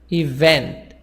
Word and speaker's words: event: Event. So vent, this is the second part.